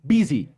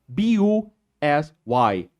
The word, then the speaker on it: busy: And then we have the word busy. B-U-S-Y. Like you, but I. It's pronounced like I.